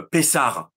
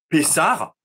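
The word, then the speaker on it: Pessah: la petite introduction que chaque fois que le lecteur trouvera un H souligné il prononcera r donc pessar et puis on retrouve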